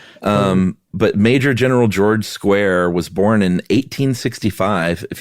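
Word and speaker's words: Squier: Uh, it is spelled square, but he swears it's pronounced square.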